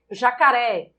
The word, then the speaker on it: jacaré: Jacaré, jacaré, jacaré, jacaré. Você, você, vocês. Em jacaré, a sílaba tônica é o ré, oxítona.